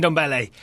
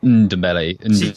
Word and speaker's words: Ndombele: ballet first of all how confident are you that we should be pronouncing that n I I think it's like a soft ok dabeli yes you kind of half swallow it's an underbelly ok I'm glad we